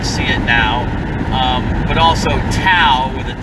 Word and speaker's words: Tao: Actually, the T in Tao should be pronounced as a D.